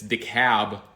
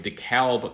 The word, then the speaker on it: DeKalb: Though if you come from Georgia, it's DeKalb Market Hall. But if you come from Illinois, we have DeKalb County. And I'm going to go with the Illinois pronunciation for DeKalb Market Hall here in Brooklyn.